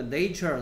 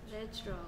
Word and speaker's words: natural: 그다음에 nature 나왔습니다. nature의 형용사형은 이렇게 생겼다라고 얘기한 적 있죠. Natural. 그렇죠. A의 발음이 달라진다는 거. 얘는 형용사형. Natural. Nature. Natural.